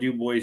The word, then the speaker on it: Dubois: I'm going to pronounce it the correct way. I don't care. It's Dubois.